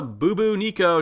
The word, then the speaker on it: Bubonico: little bit too crazy but we got the boo boo nico today the correct pronunciation of this new arm cannon and yeah